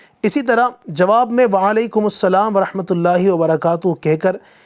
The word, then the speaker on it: وعلیکم السلام: وعلیکم السلام، وعلیکم السلام۔ بعض لوگ وعلیکم السلام، مالکم السلام، وسلام اس طرح بھی بول رہے ہوتے ہیں، تو صحیح تلفظ ہے وعلیکم السلام۔ ماشاءاللہ۔ رضائے حق کے